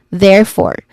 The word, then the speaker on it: therefore: It's not the proper pronunciation, but this is therefore with silent letters E in the middle and in the middle and in the end. Therefore.